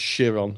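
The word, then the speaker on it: Chiron: shiron it's actually it's actually spelled Kiron but pronounced shiron so that's Greek mythology for yeah and um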